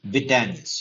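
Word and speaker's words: Widenius: So MySQL created in 1995 by Michael Vidanis. Michael Vitanis. You have to pronounce it that way only.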